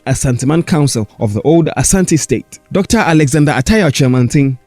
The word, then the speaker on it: Asante: Now, talking about Eurocentric point of view, foreigners who could not pronounce the name correctly said Ashanti, but the actual pronunciation is Asante.